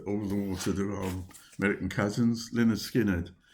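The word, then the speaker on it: Lynyrd Skynyrd: another uh the all to the American cousins lonard skinnard pronounced Leonard skinnard and this is a great great album shot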